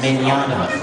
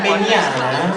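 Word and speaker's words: Mignogna: My last name is pronounced Mignana. Like tomorrow, Mignana.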